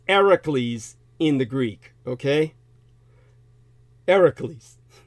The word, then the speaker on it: Hercules: you'd say Hercules like herk The Jerk It's ericles in the Greek okay ericles the H is silent English pays it literal lip service and